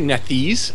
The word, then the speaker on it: Nethys: I mean, Archives of Nethys uses the community use, so it's not OGL compliant at all, and it doesn't have to be.